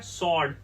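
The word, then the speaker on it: sword: वर्ड है वह है सर्ड आपको ध्यान रखना है इसका डब्लू नहीं पढ़ना है आपको इसको साइलेंट रखना है सर्ड सर्ड का मतलब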